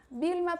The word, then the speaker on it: Vilma: O V tem som de B fraco. Vilma Picapiedras. Pedro Picapiedras. É dessa maneira que se pronuncia o V em espanhol.